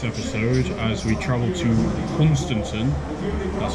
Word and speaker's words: Hunstanton: Join us in the next episode as we travel to Hunstanton, that's how you pronounce it, Sea Pauling, Hemsby again, California again, and then back in Great Yarmouth.